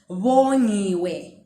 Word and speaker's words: Vongiwe: Do you hear the V and the vo?